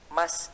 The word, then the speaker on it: must: juga yang dimaksud dengan must not? Di sini sudah ada kata must. Must ini artinya harus. Tulisannya MUST, tetapi tidak dibaca mus, tapi cara bacanya adalah must, yang artinya harus.